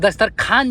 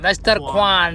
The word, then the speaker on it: दस्तरख्वान: हम दस्तरखान जा रहे हैं, हम भी दस्तरखान जा रहे हैं। खान नहीं, खान नहीं, खान नहीं। ख्वान, दस्तरख्वान, दस्तर।